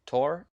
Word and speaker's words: Thor: correct um okay also i think it's pronounced tor just just hearing all